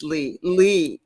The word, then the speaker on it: Lay: And I'm talking to Lee, not it's spelled Lay, but it's Lee in the morning.